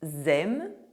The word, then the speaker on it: aiment: cake Des gâteaux Cakes The ending -ENT of verbs for the third person of the plural, I mean for “ils” (they – masculine) and “elles” (they - feminine), for all the verbs and all tenses is always silent.